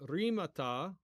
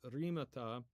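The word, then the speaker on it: ῥήματα: But yeah, anyways, so if we're pronouncing using modern translation, which I'm trying to get in the habit of doing, it would be rimata, okay, which would be the words, okay, rimata ecclesiastu, okay, ecclesiastu, which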